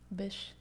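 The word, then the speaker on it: Bysshe: met percy bish shelley bish i still don't believe it's pronounced that way that's how i've heard it pronounced so many times i still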